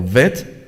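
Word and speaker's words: ב: también esto es interesante la letra bet se puede pronunciar bet o vet la gimel la d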